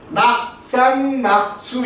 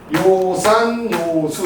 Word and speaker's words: 요산요수: 노무현에 나오는 말인데요 이렇게 서로 그거를 잘못 읽어 가지고 낙산낙수 이렇게 읽으면 안 되죠 이거는 요산요수 이때는 좋아할요 자리다 좋아하는 여자 그러니까 한